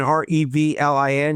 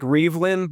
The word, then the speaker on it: Reavlin: So it's looks like Revelin but it's pronounced Revlin.